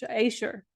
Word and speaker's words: Ashur: has it in it the god ashure aser ashure I'm just going to pronounce it ashure because that feels more natural to me and asua is an